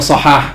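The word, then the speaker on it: صحاح: sahah itu masdar jadi sahah yashihu shhatan wahahan nah itu shahah nah boleh dibaca gitu bahkan stibi itu rahimahullah yang nulis altisam dia memastikan itu bacanya sahah kata dia bacanya sahah mukhtarusahah asahah Yang nulisnya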